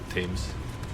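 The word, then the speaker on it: Thames: The Tames. Yes, Tames. Why don't they just pronounce the T and the H together like any good blue-blooded American would?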